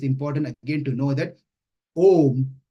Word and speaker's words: Om: But in this context, it's important again to know that Om has three syllables. A, U, Ma.